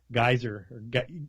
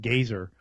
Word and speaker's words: Geyser: His name was Geyser. They pronounced it Gazer, but he said, the way he said how to pronounce it, or his name was like a geyser that shoots out of the ground.